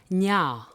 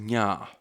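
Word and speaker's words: nyaa: So obviously one A would be shorter and a double A is a prolonged sound, correct? Yes, that's correct. Okay, nya.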